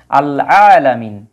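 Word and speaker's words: العالمين: দেখাবো যেমন এই যে আল আলামিন এই আইনটা হচ্ছে কমারি হরফ এজন্য কিন্তু আলিফ লামের উচ্চারণ হয়েছে এই যে রব্বিল আলামিন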